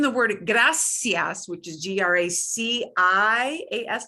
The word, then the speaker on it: gracias: spanish in castilian caseno sounds like a th which sounds very lispy to english speakers but it is not a lisp so this is how